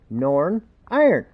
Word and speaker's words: Northern Ireland: anyone from northern ireland they pronounce it norn iron they talk so fast